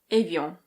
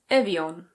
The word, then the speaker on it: Évian: In French this is pronounced Évian. Évian. In British English it's Évian. Évian.